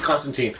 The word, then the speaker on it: Constantine: I'm also watching Constantine. Constantine. Yes. Is that how they pronounce it on the show? Yes. It's actually Constantine.